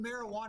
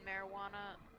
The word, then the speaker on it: marijuana: So, yeah, but I also just I feel like you do kind of pronounce the J in marijuana.